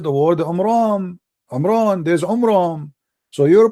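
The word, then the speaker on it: Amram: First of all, the father of Moses, his name is not Umran, his name is Umram, according to the so he got the name wrong.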